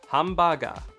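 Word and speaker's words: ハンバーガー: actually pronounced Wasabi additionally words that are imported into the Japanese language like hamburger are actually pronounced closer to hambaga also words I thought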